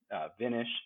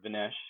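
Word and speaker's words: VNish: But now there's a lot of solutions out there, and you have all these aftermarket firmwares from Brains to Vinish or Vinesh, however you want to pronounce that, that allow you to overclock and underclock.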